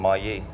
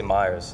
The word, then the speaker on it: Mayers: Et aussi, après j'ai parlé avec monsieur Ray Brassier, j'ai commencé à prononcer mon nom de famille comme Maillé ou Maillard, quelque chose un peu plus anglais. En anglais, c'est... En anglais, c'est Myers. Myers.